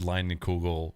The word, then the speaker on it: Leinenkugel: I also think that this is the first time you've ever said Leinenkugel correctly the first time on this podcast.